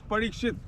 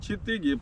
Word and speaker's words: Parikshit: Palace his name was parikshit parikshit and chitti parishit and chitti is a mispronunciation of parishit he was the king